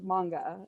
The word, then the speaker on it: manga: so um what is manga and it is pronounced manga i always review that with people because i